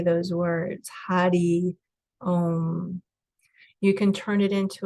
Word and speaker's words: Hari Om: Hari om and it's spelled h-a-r-i-o-m but it's pronounced Hadi um so you can chant that to yourself and just feel how that feels in your body as you say those words Hadi um you can turn it into a song and